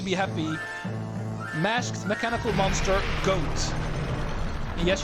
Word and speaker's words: Goht: Masked mechanical monster, Goht. And yes, you do pronounce it as Goat, because it's supposed to be word 1 on Goat.